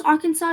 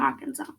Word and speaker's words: Arkansas: So in Arkansas, when you pronounce Arkansas, the S in Arkansas should not be pronounced because that's a rule in the state. So yeah, no pronouncing S in Arkansas.